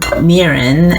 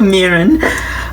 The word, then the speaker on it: mirin: You'll need some mirin, and I just noticed that the English spelling is missing.